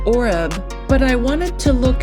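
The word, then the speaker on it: עֹרֵב: And the word raven in Hebrew is pronounced oreb, but I wanted to look at the root word for raven or oreb, and that word is H6150, and that word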